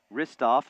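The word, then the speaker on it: Hristov: Marcus tripped and fell, and a whistle will be called against Playman Ristoff. I think that's the correct pronunciation. The H is quiet.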